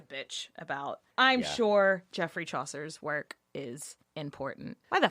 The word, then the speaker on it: Chaucer: Geoffrey Chaser. Yes, very close. Geoffrey Chaucer.